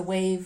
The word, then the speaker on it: wave: But if we don't practice doing the wave and saying wave your hands often enough, also children tend to forget that. So it's good for practicing pronunciation, the w versus the v sound.